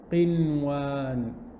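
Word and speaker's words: قنوان: Qaf, kasra, Noon Sukun, qin. And then you have, what's after that? Wow. Wow again. And wow is one of the letters of idgham bi ghunna. So normally you'd make idgham, but in this case, because it's in the same word, you pronounce it clearly.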